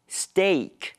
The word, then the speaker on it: steak: 既然今天的主角是牛排，我们就来说说 steak 这个字。首先，我们要注意一下它的发音。通常一个字里面有 a 连在一起的话，发音会是长音的 e，比如 lead、tea、meat 或 leaf。另外一个可能的发音是倒三的 a 的音，比如说 death、bear、where、head。但是牛排 steak 的 ea 发的是长音的 a，念成 steak，要念对哦。另外，虽然我们看到 steak 都知道是牛排，但是英文 steak 可以用来泛指肉排，像鱼排就可以叫做 fish steak，而 tuna 是尾鱼，tuna steak 就是尾鱼排。还有用鸭胸肉或是鸡胸肉做成的排餐，也可以叫做 duck steak 或者是 chicken steak。